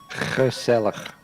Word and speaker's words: gezellig: Yeah, you have to lose half your organs from your inside just to pronounce the G. Gezellig.